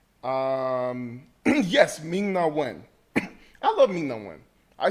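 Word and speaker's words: Ming-Na Wen: Um, yes, Ming Nawen.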